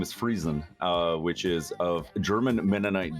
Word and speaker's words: Friesen: You pronounce it Friesen. Yeah. Yeah, I do.